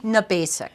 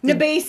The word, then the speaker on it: Gnabasik: Gnabasik. Gnabasik. The G is silent. It's Polish.